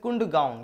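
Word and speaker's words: Kadungon: That is কুন্ডগাউন। কি নাম? কুন্ডগাউন, KUNDU, কুন্ডগাউন। দেখো হতে পারে এখানে আমার ইয়েগুলো ল্যাঙ্গুয়েজ হয়তো স্পেলিং আলাদা আছে, কিন্তু উচ্চারণ এভাবে করতে, ঠিক আছে।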